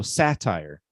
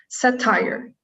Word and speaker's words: satire: So satire. Satire. Good. Satire. Except the stress syllable is sa.